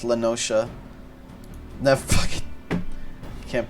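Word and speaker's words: La Noscea: I've called it Lanoska, but I guess it's Lanosha.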